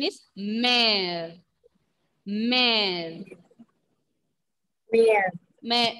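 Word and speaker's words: mère: Mother pronunciation is mare.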